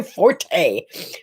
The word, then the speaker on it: forte: It wasn't my forte or my fort, depending on how you want to pronounce it.